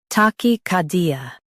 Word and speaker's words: tachycardia: Tachycardia. Stress car and keep D soft.